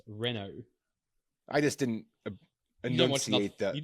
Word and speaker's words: Renault: Reno Renault how do you say it it's pronounced Renault right re Renault Renault yeah it's Renault I just didn't an you just don't watch